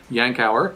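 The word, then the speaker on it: Yankauer: Yankau is how you pronounce this.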